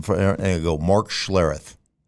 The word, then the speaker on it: Schlereth: And I go, well, it's Schlereth. It's not Schlereth. It's Schlereth.